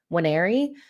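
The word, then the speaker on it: Nwaneri: about noer and or somebody told me it's not noer it's wer so my pronunciation of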